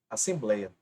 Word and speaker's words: Assembleia: por exemplo a própria Assembleia a a escrita correta é assim ó assemblei a Observe que a sílaba mais forte é a penúltima Assembleia a e esse